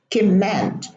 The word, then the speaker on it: command: command communicate same thing some Arab students will germinate the M here they would say Kim s command or command and comment and this is wrong pronunciation there is no germination in English in these words commands command command and